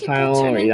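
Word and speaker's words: Tighnari: I heard he says Tainari, that's how you say it, I forgot.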